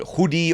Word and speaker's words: Hoodi: new test net called hoodi or hoodie it's spelled h o di I'm just going to call it hoodie hoodie and that's going